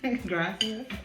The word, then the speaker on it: gracias: Gracias. Yeah. You gotta roll your R's.